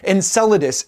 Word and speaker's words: Enceladus: So when you learn about Enceladus, I pronounced it wrong the other day, but Enceladus, it's icy water vapors